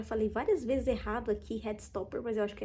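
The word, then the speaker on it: Heartstopper: que eu já falei várias vezes errado aqui head stopper mas eu acho que é Hot stopper a pronúncia correta então atualizei um pouquinho deste livro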